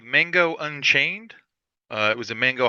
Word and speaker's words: Mango: It was called Mango Unchained.